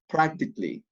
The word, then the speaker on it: practically: see double practice and practically practically you have three syllables letter a is not pronounced okay as you can